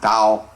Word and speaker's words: Tao: dao the dao or tao in english which pronounced dao is the principle underlying all other principles the